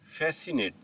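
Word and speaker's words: fascinate: फैसिनेट। अब इस word में भी एस सी एक साथ आया है। तो हम सी की आवाज को साइलेंट रखेंगे।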